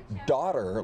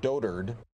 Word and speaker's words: dotard: was a mispronounced word I thought it was daughter like doddering like a doddering old fool right like the word daughter or daughter II but it's dotard this is trending everywhere